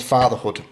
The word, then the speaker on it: fthrhood: So the clothing brand is called fthrhood. It's spelt FTHRHOOD.